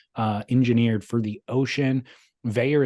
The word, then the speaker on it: Vaer: engineered for the ocean veyor is spelled vaer and we will save